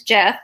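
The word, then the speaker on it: Geoff: His name is Jeff, spelled with a G, and he grew up in Orlando, graduated from Winter Park High School in 2014.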